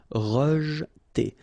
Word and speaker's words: rejeter: Rejeter. Okay, so here the is not really pronounced, so you get rej. Okay, so pronounced like rejeter, rejeter.